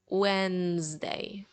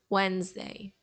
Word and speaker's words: Wednesday: comes after Tuesday and this day it also has one letter that we don't pronounce that's the letter D we instead of saying Wednesday we will say more of Wednesday Wednesday Wednesday let's repeat